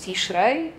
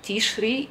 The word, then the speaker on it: Tishrei: No i jak rabini przekonują, ten czas to jest właśnie miesiąc Tishrei, czy Tishri. Przepraszam, ja się nauczyłam mówić Tishrei, ale oczywiście obie wymowy są prawidłowe.